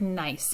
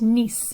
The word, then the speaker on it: Nice: probably heard of nice before it looks like nice in english but it's pronounced nice in french so the picture we see here